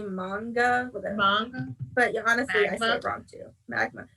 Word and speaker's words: manga: I learned a lot about, and I feel like I say it wrong every time, Magna. I think it's supposed to be manga.